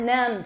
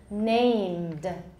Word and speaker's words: named: let's fix it please it's not numbed everyone got it put it in your notes in big bold letters named remember this please remember